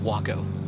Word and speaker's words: Waco: when i discovered that waco aircraft were actually pronounced wacko like i was